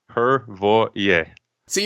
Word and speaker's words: Hrvoje: yeah it's it's it's really easy you know her see you're rolling ours already so already it's going